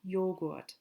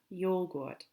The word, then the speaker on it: Joghurt: To say yogurt, notice it's spelled with a J, der Joghurt. Der Joghurt.